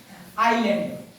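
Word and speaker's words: island: का रहा है एस आई और ल के बीच में आता है तो उसे एस को हम लोग क्या करते हैं साइलेंट पढ़ने हैं जैसे की मां लीजिए आयरलैंड आयरलैंड आयरलैंड मैंने देखा आई है एस बीच में है आई आई एस ल ए एन दी क्या बोलेंगे इसमें एस देखिए साइलेंट हो गया आयरलैंड पर आता है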